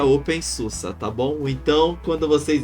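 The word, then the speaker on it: openSUSE: sistema uma distro Linux que o pessoal chama pelo nome errado que é o open Suzi que na verdade se pronuncia Open Susa Tá bom então quando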